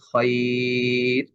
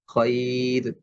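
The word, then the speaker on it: خير: মোটা হওয়ার কথা ছিল কিন্তু এটা আমাদেরকে পাতলা করে উচ্চারণ করতে হবে আমাদের বলতে হবে খর আমি যদি বলি খ এটা ভুল উচ্চারণ এই শব্দটাও আমাদেরকে মনে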